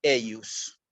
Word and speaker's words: eius: Nomen eius, ¿sí? Aquí en eius aparece una J que nosotros en latín la tenemos que pronunciar como una I.